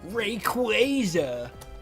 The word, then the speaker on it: Rayquaza: They showed a they showed some way to properly pronounce his name. Rayquaza.